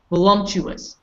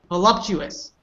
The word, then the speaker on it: voluptuous: here will lump truest balumptuous' balumptuous' balumptuous' how do you pronounce this correctly Bonnie give it a try oh the love truth ah voluptuous good what did you what